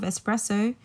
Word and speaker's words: espresso: when you think of espresso think something that's being pressed so it's it literally means oppressed so when you're thinking about espresso like take out the X and just remember it's pressed so you put the